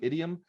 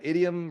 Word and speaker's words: idiom: uh it's a truism idiom by the way idiom rhymes with idiot who can kind of